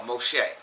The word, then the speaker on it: Moshe: Um but in this book in the scriptures, the original text is uh Moshe. So it's spelled M O S H E H.